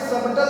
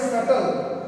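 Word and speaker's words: subtle: एस यू बी टी एल ई यहां पे सबटल नहीं पढ़ेंगे इसको पढ़ेंगे सटल डी ओ यू बी टी यहां पे बी साइलेंट हो जाएगा यहां पे डाउट पढ़ेंगे इसी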